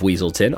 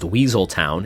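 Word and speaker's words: Weselton: tudyk who also voiced the duke of weaselton often mispronounced weaseltown in frozen 2013.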